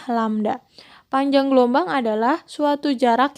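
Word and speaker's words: lambda: panjang gelombang ini sering disimbolkan dengan lamda ini lamda ya Ini cara bacanya lamda panjang gelombang adalah suatu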